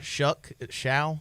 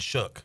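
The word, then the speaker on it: Shough: Shao. I don't know how to say his name. I heard him say his name today, and he said Shook.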